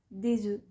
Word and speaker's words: œufs: généralement pas au pluriel on dira des œufs des beurs des os cela vient d'une tendance issue de l'ancien français qui consistait à ne pas prononcer la consonne finale avant le s au pluriel